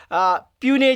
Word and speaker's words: puisne: में उस टाइम 2 प्यूने जजेस, सॉरी इनको याद ना, प्रोनाउंसिएशन क्या है, PUISNE, इसको बोलते हैं प्यूनी, एनी, प्यूनी, तो प्रोनाउंसिएशन इसकी है प्यूनी जजेस जो उस टाइम अपॉइंट किए गए।